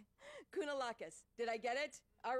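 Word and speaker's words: Kounalakis: governor Elena I'm going to say it right kunalakis did I get it all right he's welcome lieutenant governor good morning everyone I'm Eleni kunalakis I'm the lieutenant governor of the great state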